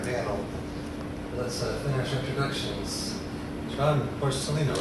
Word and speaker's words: Porcellino: John Porcellino, right? Yeah. Porcellino.